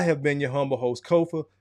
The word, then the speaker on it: Kofa: I have been your humble host, Kofa, Kofa, not coffee, not kufu, not Kofi, or any variation thereof. Kofa rhymes with sofa, easy to say, easy to spell.